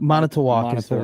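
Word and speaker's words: Manitowoc: Manitalk. Monet towalk. That's a town. Monet towalk. Right. Yeah. Yeah. Yeah. That was correct.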